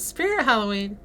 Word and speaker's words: Spirit Halloween: know how to say Spirit Halloween spirit of Halloween not spirit of Halloween it's Spirit Halloween I know that do